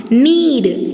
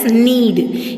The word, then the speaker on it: knead: மாவை பிசை அப்படின்னா need. K is silent here. We should pronounce this word as need. N-E-A-D. Knead the flour.